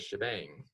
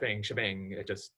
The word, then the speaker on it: shebang: The very first line of this file up here, right here, this is called the shebang.